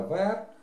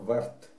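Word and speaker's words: vert: наверное, правильнее – гюль, зеленый – вер, вернее, по-французски это вер, а по-английски его произносят как верт.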